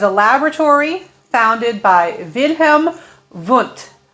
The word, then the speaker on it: Wundt: There was a laboratory founded by Wilhelm Vunt. Students often want to say Wundt, but my best understanding of German pronunciation is that it would be Wundt.